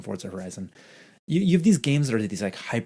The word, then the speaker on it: Forza Horizon: Forza Horizon. Forza Horizon.